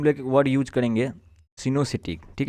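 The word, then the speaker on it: coenocytic: इसके लिए हम लोग एक वर्ड यूज करेंगे, सिनोसिटिक। ठीक है, तो अलग अलग स्टूडेंट्स अलग अलग इसको प्रोनाउंसिएट करते हैं, तो हम लोग इसको सिनोसिटी बोलेंगे, जिसका मतलब होता है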